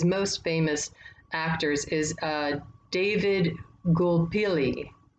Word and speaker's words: Gulpilil: famous actors is David Gulpilil. Gulpilil, I think is how you say his name, Gulpilil.